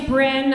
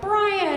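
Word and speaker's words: Bryn: And um, my name is spelled B R Y N. So, super often people would just read it really fast and be like, "Brian," and I'd be like, "Surprise, not a boy."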